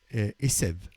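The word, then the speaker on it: עשב: C'est juste l'herbe, c'est un B à la fin, et tandis que l'autre, c'est un V. Alors, dans l'herbe, c'est la lettre B est prononcée V.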